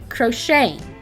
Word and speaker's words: crocheting: hobby amongst young women crocheting the t is silent crocheting is similar to knitting